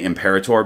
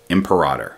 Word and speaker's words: imperator: By the way, I've decided to change the way I've been pronouncing the word imperator. I used to say imperator because people say it both ways, but then